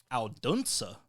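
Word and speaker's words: Odense: Hans Christian Anderson was born April 2nd, 1805 in the city of Alduna.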